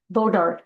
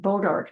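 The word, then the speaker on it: bois d'arc: Another innovation in the Fanny County courthouse design was the use of what I think is pronounced bodark trees to stabilize the foundation.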